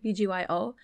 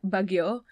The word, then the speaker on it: BGYO: saying it right right it's like bgyo because like when my brain looks at it it's like Baguio but no it's bgyo right right I'm sorry